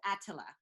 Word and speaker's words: Etila: It's Etila, right? to my understanding, Etila. Attila. Attila. Attila. Attila. Etila. Etila. Right? So the way to properly pronounce your name is Attila.